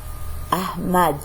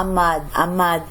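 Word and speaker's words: Ahmed: شوف هذه الاتش تلفظ أحمد، خلاص من تهجت عرفت هو أحمد. هذا هم يلفظوا أماد وأخف بعد.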